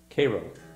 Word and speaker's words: Cairo: Well, being from a bordering state, I know it's Cairo.